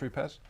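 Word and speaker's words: Rupes: it now we've got roots calm here yes Italians it should be pronounced repairs one of my favorites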